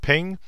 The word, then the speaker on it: PNG: to be a gif a PNG uh usually pronounced ping or uh jpeg so